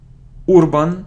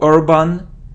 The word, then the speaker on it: urban: look at this word it isn't UR bban or Urban it's urban urban and a urban urban